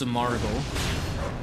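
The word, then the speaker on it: Simargl: So Smargl is pronounced Samargl.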